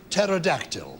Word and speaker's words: pterodactyl: Do you mean as in pterodactyl?